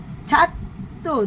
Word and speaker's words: ছাত্র: যেটা আমরা আগেই বললাম গাত্র গাত্র ছাত্র দুবার উচ্চারণ হচ্ছে।